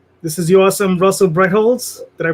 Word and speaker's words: Brettholtz: to our guest this is your awesome russell brecholz did i pronounce that correctly you did yeah okay cool